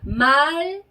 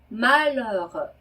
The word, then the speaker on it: malheureux: 입술을 입술을 한 상태에서 에 소리를 내는 거고요. 네, 뒤에 나오는 이 는 앞에 나온 발음보다도 훨씬 더 입을 작게 벌리는 오에서 에 발음하는 거예요. 그래서 천천히 발음을 해보자면 malheureux 이렇게 발음하는 겁니다.